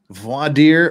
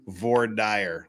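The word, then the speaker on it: voir dire: the the lawyer question V deer or is it correctly pronounced V dire like we do in Utah V deer okay you're in the middle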